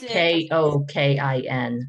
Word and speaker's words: Kokin: It's Nitzan Stein-Koken. She is Kokin.